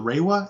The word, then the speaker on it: Reiwa: Yeah, and because now we're in I believe it's pronounced the Reiwa era of Japan.